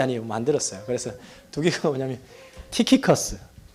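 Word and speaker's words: Tychicus: 만들었어요 그래서 두기고가 뭐냐면 키커스 TY CH cus 키커스 이게 좀 그리스 발음이 에베소 사람인데 그 70인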